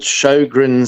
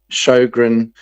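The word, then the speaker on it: Sjögren: Um, and it's called Shogrin syndrome, which is spelled SJ and then an O with two littleies on it. Two little dots above it. G R E N. Shogrin syndrome.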